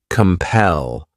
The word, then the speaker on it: compel: The next verb is compel. This word has two syllables and the stress is on that second syllable.